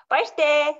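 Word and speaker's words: баяртай: Bye-ste.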